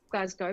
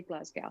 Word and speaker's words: Glasgow: I say Glasgow, but a lot of Americans say Glasgow, so it's okay.